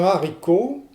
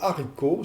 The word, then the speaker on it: haricot: Alors, si vous dites un haricot, ça n'est pas très grave, mais en fait, là, vous ne marquez pas le H aspiré. Vous devez dire un haricot.